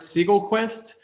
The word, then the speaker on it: Segelquist: doing awesome marketing today i'm joined by siegel quest did i pronounce that correctly yeah yeah you're right